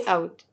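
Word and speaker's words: août: نتلخبطش فيهم اا يبقى ازاي بكتب مانيه اي اوت اي اوت بنطقها اوت يعني ايه اصلا ما بتتنطقش عندي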